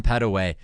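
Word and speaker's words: Petteway: couple pushes Teran P Teran pedway am I pronouncing that right uh pedway pedway okay so a little quicker pronunciation there Teran pedway uh looking to be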